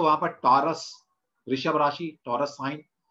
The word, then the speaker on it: Tarot: English में लिखते हैं इसको टैरेट है, लेकिन इसको बोला जाता है टैरो, टैरो card, not टैरेट card, okay. T इसमें साइलेंट रहता है।